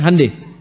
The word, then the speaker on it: Hyundai: Hyundai itu dibacanya Hyundai.